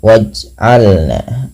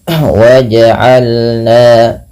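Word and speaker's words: وجعلنا: Beberapa kesalahan yang terjadi adalah tidak memantulkan bunyi suara huruf jim. Ya. Yaitu misalkan waj'alna, ini tidak memantul, nah ini salah. Harusnya dia memantul, waj'alna.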